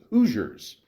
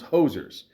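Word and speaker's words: Hoosiers: have not seen 1986's hooers not pronounce hosers as I did for a while but uh that's yeah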